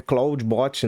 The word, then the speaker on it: Clawdbot: procurar o nome é é cloud bot, né? A pronúncia é bem parecida com com Clou da da que é o Cláudio, o Claudão, nosso amigo Claudão da Antropic.